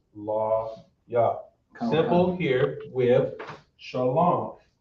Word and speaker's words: Shalom: in ancient Hebrew, but essentially that's how you pronounce it. That is how you can, that's how to explain it the best way. Shalom. Shalom. Instead of shalam.